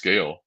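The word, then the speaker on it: gaol: So how can you say Gale when it's spelled G-O-A, goal? Oh, it's it's Gale, G-A-O-L.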